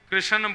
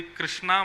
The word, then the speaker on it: कृष्ण: लाल की जय बंधुओं कई लोग इस नाम को अशुद्ध बोलते हैं कई लोग कृष्ण बोलते हैं, कई लोग कृष्ण बोलते हैं, कोई कृष्णा बोलता है। भगवान का नाम शुद्ध उच्चारण करो। नाम क्या है? कृष्ण भगवान।